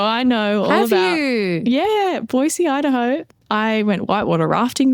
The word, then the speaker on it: Boise: is definitely for you M because she put Boyisey and she put in brackets boyisey how to say it and I've been to Boisey though so I know all about Yeah. Boisey Idaho.